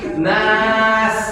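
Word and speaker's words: ناس: Sin itu gampang, cara bacanya senyum. Nas. Nah, tipis. Kalau ibu nggak senyum nanti berkesan kayak tebal. Nas. Nah, jangan nas, tapi yang benar senyum. Nas.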